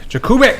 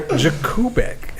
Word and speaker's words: Jakubek: So Jakubek, is that how you say it? Jakubek? You keep in English pronunciation is Jakubek. Polish it's Jakubek, but Jakubek is okay too.